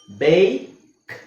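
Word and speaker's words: bake: ಆಗಬೇಕಾದ್ರೆ ನಮಗೆ ಈ ಹಾಕಬೇಕು ಯಾಕೆಂದ್ರೆ ಈ ರೂಲ್ ಏನ್ ಹೇಳುತ್ತೆ ಸೈಲೆಂಟ್ ಏನ್ ಮಾಡುತ್ತೆ ಪಕ್ಕದಲ್ಲಿರೋ ವಾವೆಲ್ನ ಲಾಂಗ್ ಓವೆಲ್ ಮಾಡುತ್ತೆ ಅಲ್ವಾ ಹಾಗಾಗಿ ಇದರ ಉಚ್ಚಾರಣೆ ಏನಾಗುತ್ತೆ ಬೇಕ್ ಬೇಕ್ ಇದು ಬ್ಯಾಕ್ ಬ್ಯಾಕ್ ಹಾಗೆ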